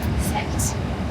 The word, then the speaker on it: Sekt: But here we have something called Sekt. That's spelled S-E-K-T, and that is made in the same traditional method as Prosecco.